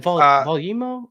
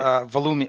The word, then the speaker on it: Volumio: Volume is it Volumo? Is that how you say it? Volumio. Well, I call it Volumio, but Volumio.